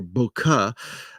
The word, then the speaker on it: bokeh: love the concept of bouquet there's some controversy how you pronounce that bouquet or bokeh but bouquet where the background is